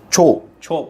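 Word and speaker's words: chore: ये दो हमारे पास जो छो पढ़ा जाता है वैसे, ठीक है, छो, आर ज़्यादा को चोर नहीं बोलेंगे, ठीक है, चोर, आर को थोड़ा सा साइलेंट रखना है, ठीक है, इस तरह से।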